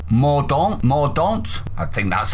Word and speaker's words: Mordaunt: be aware, the Paymaster General, who is called Mordaunt, I think that's how it's pronounced, said this in reply to her.